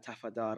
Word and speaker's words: Tafadar: I'm joined with Sultana Tafadar. I hope I pronounced your surname correctly.